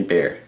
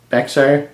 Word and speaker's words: Bexar: bear tactile knife company bear a lot of people say bexar i said bexar apparently in texas or at least in certain areas in texas you don't pronounce the x so i don't know